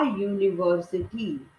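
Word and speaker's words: university: आ यूनिवर्सिटी, तो Y double O की sound है।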